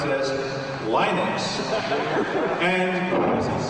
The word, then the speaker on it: Linux: Linux as Linux. However, the total answer to that is, if you are Linus Torvalds, you probably pronounce it as Linux.